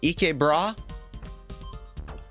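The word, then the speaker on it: ikke bra: Your first pronunciation uh was pretty good. E bra.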